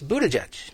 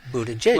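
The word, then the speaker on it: Buttigieg: boot that judge and you put it together quickly it's Buddha judge right well guess what as of last night on CNN it was Buddha judge okay and they all a person said began pronouncing it Buddha J what can you say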